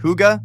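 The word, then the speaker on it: hygge: The concept of higa, pronounced huga, was invented here.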